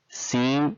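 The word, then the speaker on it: سين: Seen, just like the sound of S in the word sample.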